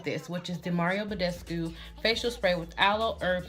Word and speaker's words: Badescu: I think you guys have seen me talk about the rose water spray from this brand, Mario Badescu. I believe that's how you say it, Badescu.